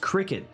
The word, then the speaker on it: Cricut: Luna that's pretty cool you say cry cut ironically it's because it's supposed to be pronounced Cricut which I'm like no if you wanted it called Cricket maybe spell it a different